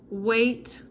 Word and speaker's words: weight: Weight is pronounced as if there's an A here, weight, and the GH is silent.